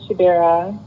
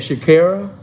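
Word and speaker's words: Chidera: who am i speaking to my name is shadera you said shakira c-h-i-d-e-r-m just like how it's spelled okay um what's your what's your thoughts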